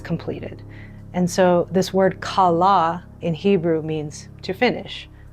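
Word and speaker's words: כלה: And so this word kala in Hebrew means to finish, to bring to a full end, to complete something.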